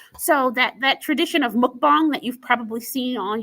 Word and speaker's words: mukbang: the term mukbang um you've probably heard people pronounce it mukbang it's mukbang um and that comes from Korea and what